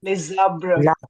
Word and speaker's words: les arbres: Les arbres. Les arbres. Remember? S connects with the vowel of the uh with the vowel. And it produces the z sound.